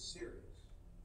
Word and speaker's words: Sirius: that we see is Sirius. Are you serious? No, this is spelled S-I-R-I-U-S.